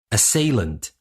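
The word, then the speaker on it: assailant: for today as salent it is spelled as SS a i l a n t as salent now as salent is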